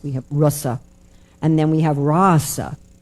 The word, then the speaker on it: rasa: So similarly, we have the short a, which is pronounced like the English short u, like bus, we have rasa.